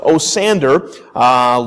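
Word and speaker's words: Osiander: I'm going to try to pronounce it Osander.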